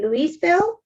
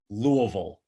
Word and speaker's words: Louisville: whiskey is is bourbon so even though it's spelled louiseville the way that we're instructed to to say it and to enunciate it is to pretend as though you've had a couple of bourbons and then try to